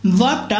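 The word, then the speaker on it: walk: যখন, ওয়াকটা এই যে ওয়াল্ক বলি আমরা, এলটাকে কি আমরা ইউজ করি প্রনাউন্সিয়েশন সময়, উচ্চারণের সময় কি প্রনাউন্সিয়েশন যখন করি বা প্রনাউন্সিয়েশন যখন করি তখন কি আমরা এলটাকে কি ইউজ করি না, ও এলটাকে আমরা ইউজ করি না, অনেকে ওয়াল্ক বলে, বাট এটা হচ্ছে উচ্চারণ, ওয়াক, ওকে, ওয়াক।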